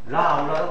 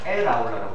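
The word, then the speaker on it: aula: 우리는 라울라라고 안 적고 라울라라고 안 적고 어떻게 적냐? 에라울라라고 적습니다.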